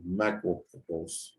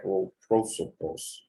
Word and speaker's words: Macroprosopos: Chokmah is the yod of the macropropos. Macropropos. I can never say it right. Macroprosopos.